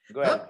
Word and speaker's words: Guelfa: And if I'm correctly pronouncing it, it is called Knight of Parte Guelfa, right? Is that correct, Chris? Guelfa, yeah.